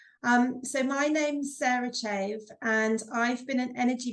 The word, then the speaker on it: Chave: you here with beautiful Sarah Chavez and I'm pronouncing that correct um it's actually Sarah chave but what's really interesting